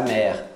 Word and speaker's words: mère: Mère, não pronuncia o ezinho no final.